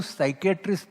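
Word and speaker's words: psychiatry: मेरा सवाल ऐसा है, एक बाजू पोएट भरत है, दूसरे बाजू साइकियाट्रिस्ट भरत है, वो साइकियाट्री में पोएट्री का पी साइलेंट है।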